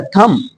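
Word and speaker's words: thumb: एक चीज और है अगर आप ध्यान से सुनोगे तो बा का कहीं ना कहीं आता थम दिस इ माय थम दिस इज माय थम जबकि मैंने बा नहीं बोला इसलिए साइलेंट रहता है समझ पाए थम कम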